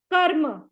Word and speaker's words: कर्म: और बोलेगा कि मैं मेरे को पहले प्रोनाउंस करो कर्म कर्म म से पहले र को बोलो धर्म सर सरव नाम